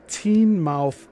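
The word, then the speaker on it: Teignmouth: Of most interest is the case of the teen mouth electron. That's spelled t e i g n m o u t h e l e c t r o n.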